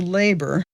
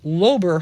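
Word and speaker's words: Loeber: I'll say pastor labor because that's the way that it's pronounced in Perry County, but here in St. Louis and other places, you have Lober Hall at the seminary. It's called Per Lobber.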